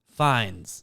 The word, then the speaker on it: Fiennes: the patsies the patsies Ralph how did you pronounce his name before fines but it's spelled Phoenix Anyway full name Ralph Nathaniel twistleton winkham finds that's incredible name and